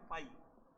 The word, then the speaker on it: phi: इस सिंबल से डिनोट करते हैं, इसको बोलते हैं पाई, पाई से इसको प्रोनाउंस करते हैं, पाई बोलते हैं इसको, PHI, है ना।